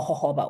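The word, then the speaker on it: jojoba: at accelerating cell turnover than Joba oil or hoba oil that's how some people pronounce it um so anyway there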